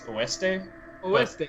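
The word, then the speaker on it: oeste: It's pronounced I think it's oste. Yeah, it's o e s.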